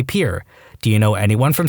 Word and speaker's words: Pierre: his sixth grade teacher she was pronouncing the state capital of South Dakota Pier wrong. She kept saying Pierre, two syllables like the French name, and he said it was pier, one syllable, like what you fish off of.